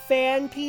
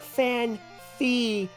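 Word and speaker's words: Phanpy: Thinking about, I only just recently noticed it was Fanpy and not Fanfy.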